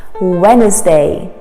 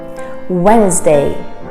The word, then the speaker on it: Wednesday: day of the week wednesday wednesday yes the d is actually silent don't ask me what's the purpose of the d in this word we just pronounce it as a wednesday wednesday is actually one